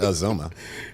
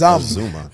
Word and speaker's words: Azumah: It's not Azumah. Yeah, I know. It's Azumah. It rhymes with. It looked like it rhymed with yum.